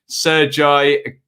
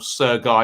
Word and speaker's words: Sergiy: see hope everybody's safe referee sergiy karasev or sir guy excuse me karasev uh for those